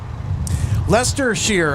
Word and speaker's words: Leicestershire: Leicestershire, okay. Leicestershire, okay. Thanks for the help with the pronunciation.